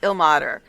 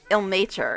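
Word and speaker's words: Ilmater: He pronounced it the way I always thought it was pronounced, ill mater, but I've heard a bunch of other people pronounce it ill nature in this game.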